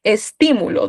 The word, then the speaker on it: estímulo: Por ejemplo, estímulo, ¿dónde está la tilde? En ti, ¿verdad?